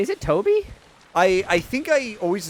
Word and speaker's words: Tobe: Okay, Nick says it's Toby. Okay, it is Toby.